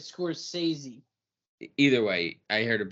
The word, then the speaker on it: Scorsese: says he is like Scorsese okay you're saying it wrong but anyway The Score says he yes it is it scores sazie either way I heard